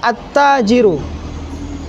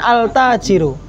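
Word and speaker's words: التاجر: bacanya gimanahilangkan lam Iya Alif lamnya dihilangkan jadi langsung attajiru bukan Al bukan alajiru iniah ini Syamsiah namanya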